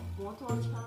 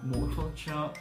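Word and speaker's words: 摩托车: 的 대작이오토바이 오토바이 너무비슷한데 완전비슷해요 오토바이 오토바이 중국어뭐중 摩托车，摩托车。 대만에서오토바이되게많아요。 오토바이되게많아요。 저도오토바이있어요。 있어요？한국에서도오토바이라고。 네。중국은 대만에서도오토바이。중국에서는 摩托车。네。이렇게발음해요。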